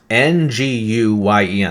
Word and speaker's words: Nguyen: It's pronounced Nguyen.